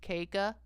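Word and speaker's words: Caka: My last name is spelled C-A-K-A, pronounced Keika.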